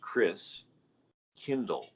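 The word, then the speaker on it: Christkindl: the christ child and the german pronunciation of christ child is chris kindle like kindergarten kinder care kin means child and chris christ so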